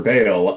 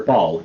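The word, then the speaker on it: Baal: I'm stoked for Bale. I'm not going to pretend like or Ball, I think is how you pronounce the name, right? Yeah, Ball.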